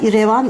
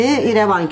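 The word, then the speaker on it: İrevan: kaldı şarkısıyla hatırlarsınız ama Türkler telaffuz ederken genelde rler başına iyi koyarız iradio irece Ramazan gibi revan irevan irevan denile denile irevan ismi oluşmuş E bu dananın sırt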